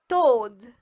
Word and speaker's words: toad: A is silent. D O toad.